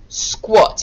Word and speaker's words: squat: on your bingo board squat here it is spelt with an a sounds like an o squat here it is